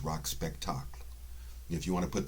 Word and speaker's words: Rock Spectacle: how this is pronounced it's French name not not an English one so it's not rock spectacle it's rock spectacle if you want to